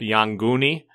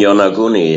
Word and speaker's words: Yonaguni: people you've come into contact with brought up Yanguni off of Okinawa? The Yanguni, the underwater pyramids, etc.? You mean Yonaguni? Yeah, I pronounce it different, yeah.